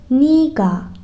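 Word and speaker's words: 네가: نو بعلاوه گا میشه و تبدیل به نیگا نیگا به املاش دقت کنین نگا نوشته میشه ولی موقع تلفظ کردن باید بگین نیگا چون باید بتونیمش از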